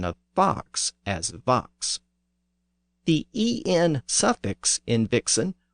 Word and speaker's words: vox: The other notable sound change in the first line is the pronunciation of fox as vox. The word is actually spelled V-O-X.